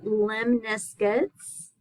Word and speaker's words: lemniscates: Those are called lemniscates.